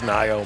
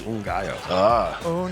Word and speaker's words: Ngaio: We have the same spelling, but it's a different pronunciation. Hers is Ngaio, mine is Ngaio.